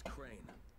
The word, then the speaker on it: Crane: No, my name's Crane. Crane? Crane rhymes with train and brain and sane and grain and rain.